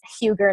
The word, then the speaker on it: Huger: huger um and it's huger not hogger everybody always mispronounces it so i'm huger